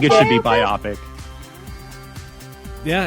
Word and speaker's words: biopic: biopic but it no I say biopic I want to be wrong I'm happy to be wrong on this one yeah well biopic sounds like a movie biopic sounds like a medical procedure yeah but it's based off of like biographic biographical picture picture yes it's a port